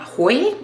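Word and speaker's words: Hoei: And then I want to use the deep dark blue called Mount Hoi. I think it's pronounced Hoi, H-O-E-I.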